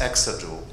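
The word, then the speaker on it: exajoule: so first of all this symbol EJ is exod um you know that's the correct pronunciation um second of all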